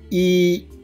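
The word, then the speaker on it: 一: Then E, there is first tone. So we need to pronounce like this. E, E, E, E means 1.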